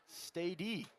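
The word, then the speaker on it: Stade: His name is pronounced Stady, spelled S-T-A-D-E.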